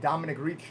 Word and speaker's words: Domenic: is a part of my domino effect domini that's how you say my name correctly this stage of my